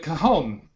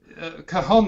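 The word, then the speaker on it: cajón: Because the J may be pronounced Spanish or if it's Portuguese, it would be cajon.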